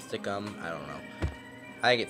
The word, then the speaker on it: Stickam: how you say it, stickam, stickum, I don't know. I get stickam. There's no, people say it's stickum, but it's am, not um.